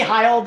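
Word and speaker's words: Hield: you called him jt what would you call him buddy high old or what was the name is the way that uh his parents pronounce his name so that's what i use okay so buddy heild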